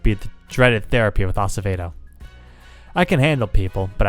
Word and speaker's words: Acevedo: Avocado? Dr. Avocado? I get that a lot. It's pronounced Acevedo.